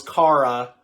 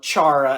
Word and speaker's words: Chara: a really hard name it sounds like kara at first but then when you realize that h is not silent so yeah all their